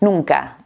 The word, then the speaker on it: nunca: En la primera n, la lengua va detrás de los dientes. Nunca. Nunca. Y en la segunda es mucho más suave.